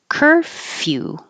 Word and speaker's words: curfew: don't round your lips curfew C is like her curfew and your tongue has to go up for the Y curfew her curfew is